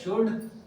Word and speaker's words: should: है वो है शुड शुड में एल साइलेंट हो जाता है इसलिए ये एल हमें बोलने में सुनाई नहीं देता है एस एच ओ यू डी शुड बोल बोते हैं हम हमेशा एल नहीं बोलते हैं शुड नहीं बोलते हैं